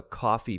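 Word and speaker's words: Ko-fi: We've set up a coffee page. That's K O FI pronounced just like coffee.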